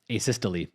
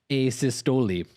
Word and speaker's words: asystole: even like help myself the actual proper pronunciation at least from a canadian is um asystole but from the uk i don't know this this uh this particular video they've gone with a sistoli which may just be